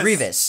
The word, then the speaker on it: Grievous: Just Grievous.